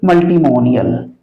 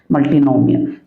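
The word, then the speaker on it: multinomial: Term, 4 term है तो मल्टीमोनियल, मल्टीनोमियल। देखो कभी कभार गलत भी प्रोनाउंस हो जाता है, मल्टीनोमियल।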